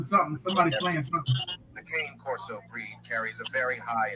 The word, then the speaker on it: Cane Corso: So, like, far as when you pay your rent, my family or my house, introducing the concourse. I pay rent with my card. Okay. Pronounce it as cane corso.